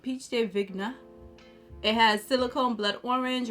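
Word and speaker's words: pêche de vigne: it also has pitch i think it's pronounced peach day vignette of peach day vigna it has silicone blood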